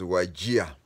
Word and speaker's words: Wajir: we called it wajir w a Jr but pronounced it as wagia that is how the name waja came from